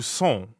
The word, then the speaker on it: sont: So that would be où sont. Où sont? Right, où sont. Sont. Sont. Sont is nasal, so it rhymes with bon, like at the beginning of bonjour.